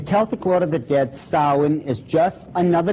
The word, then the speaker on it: Samhain: Now, when you look at the name, it looks as if it's saying Samhain or something like that. No. This is properly pronounced in the ancient Gaelic as Samhain. Samhain, according to occult tradition, was the Lord of the Dead.